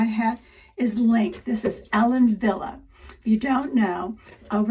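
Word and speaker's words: Ellen Wille: is link this is Ellen Villa if you don't know over in the Netherlands and in Germany a w is pronounced in English like a V so that's why we say Ellen Villa is because over there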